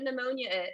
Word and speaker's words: pneumonia: pneumonia who knows what pneumonia is and please pay attention to how i pronounce this we do not say the p we call it new ammonia all right yes pneumonia is a lung infection